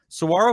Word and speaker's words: saguaro: just dumps water so saguaros are really cool saguaro cactuses pronounced saguaro i i know how to pronounce